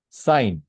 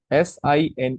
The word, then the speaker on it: sine: So don't call it as sin. Don't pronounce it as sin otherwise you'll be committing one.